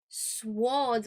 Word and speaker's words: swords: Swords. Well, it's exactly the same. Why do you have a fucking W if you don't pronounce it?